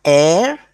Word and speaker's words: heir: vowel, we use and an is also used before a noun that starts with a silent H, like hour, okay, then heir to the throne, and what else starts with H?